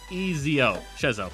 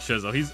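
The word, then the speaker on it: Schezo: S-C-H-E-Z-O. Shezo. Oh, it's one of those SCH motherfuckers. I really like Shezo.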